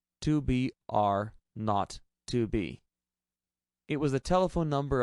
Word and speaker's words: 2 B R 0 2 B: The 0 in the telephone number he pronounced not. The number was 2BR not 2B.